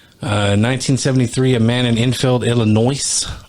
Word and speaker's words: Illinois: 1973, a man in Enfield, Illinois. I'm going to say Illinois. Because Illinois, yeah. Has an S there.